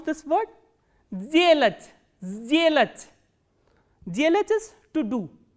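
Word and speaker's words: сделать: This voiceless consonant will be pronounced as its voiced counterpart, which is z. So, how will you pronounce this word? Zelach, zelach.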